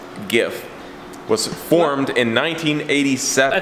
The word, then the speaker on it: GIF: One of the oldest file formats on the internet, by the way, pronounced GIF, was formed in 1987. I thought it was GIF.